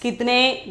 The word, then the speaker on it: कितने: The pronunciation is kitne.